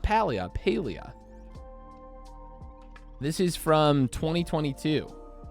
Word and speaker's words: Palia: Is there a pronunciation guide online? I mean, also people argue if it's paleia or paleia or paleia.